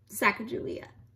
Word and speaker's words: Sacagawea: an indian girl she has a fancy name sacagawea you say it like this later miss glass